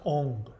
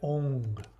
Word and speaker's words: Aum: It's actually pronounced Ong. So if you want to chant Aum, which even a lot of Vedics, East Indians don't understand it, you chant it Ong.